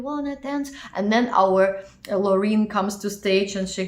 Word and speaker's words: Loreen: That is, of course, Sweden, Loreen, or Loreen in Swedish pronunciation.